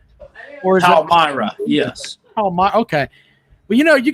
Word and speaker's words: Palmyra: Jackpot's wearing his Palmyra, Pennsylvania hat. Is that the correct way to pronounce it? Palmyra? Or is Palmyra, yes.